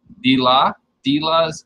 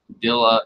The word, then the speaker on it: Dila: And I'll be mispronouncing her name to myself, and it's Dila's Guppies. I was pronouncing it like Dilla or something else anyways. But I heard her pronounce it the other day, or this morning, and I realized I've been pronouncing it wrong.